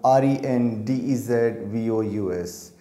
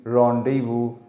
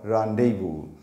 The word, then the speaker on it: rendezvous: v o u s its pronunciation is rendezvous or rendezvous these are its phonetic symbols this is ipa international phonetic alphabet the sounds of these symbols this is uk pronunciation the next one is this is u.s pronunciation this is a stress mark it is the main stress so this syllable should be said loudly and clearly rendezvous rendezvous i'll tell